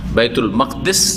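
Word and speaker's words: بيت المقدس: বাইতুল মুকাদ্দাস বা মাকদিস উচ্চারণ দুটি ঠিক মুকাদ্দাস নয় মুকাদ্দাস অনেক বাইতুল মুকাদ্দাসে গিছিলাম ভুল এটি উচ্চারণ বাইতুল মাকদিস পড়েন মসজিদের ওজনেফ গা আর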